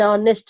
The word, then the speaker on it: honest: ನೀವು ಹಾನೆಸ್ಟ್ ಅಂತೀರ, ಹಾ ಅಂತಿರ್ತೀರ ಎಷ್ಟೋ ಸತಿ. ಅದು ಹಾ ಅನ್ನೋದು ಬಿಡ್ಬೇಕು.